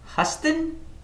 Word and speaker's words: Huston: the second paragraph States the town was named Huston similar to the city in Texas and pronounced the same hustin what the hell is